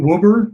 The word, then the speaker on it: Woeber: watch did i watch the spell the pronunciation of your last name um wilbur did you say wilbur i did i did